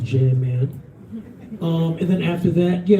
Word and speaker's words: Jam Man: No coincidence that scam rhymes with Jam Man.